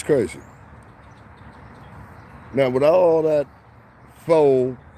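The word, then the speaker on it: faux: now with all that foe that's spelled f-a-u-x meaning false fake with all that full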